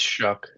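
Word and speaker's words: Shough: I think Shuck. it's Shuck.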